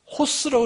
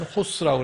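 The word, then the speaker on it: ὅς: 그리고 여기에 O는 이 앞에 H 사운드가 들어가요. 그래서 이것이 호스라고 이렇게 발음을 합니다. 이건 theos고 이는 호스라고 이렇게 발음하고.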